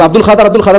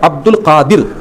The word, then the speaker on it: عبد القادر: عبد القادر۔ لوگ عبد القادر بولتے ہیں، تو تصحیح کر لینا، صحیح تلفظ کیا ہے؟ عبد القادر۔ قادر سے عبد القادر،